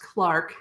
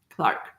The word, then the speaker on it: Clerk: So, Sir George Clark, he's spelled C-L-E-R-K, but it's pronounced Clark, so it looks like clerk, but Clark.